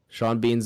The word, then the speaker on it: Sean Bean: Sean Bean's a funny name because Sean and Bean have like the E and the A, but like it's Sean and then pronounced Bean, differently.